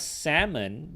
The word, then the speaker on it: salmon: Whereas in the case of salmon, the L was never intended to be pronounced.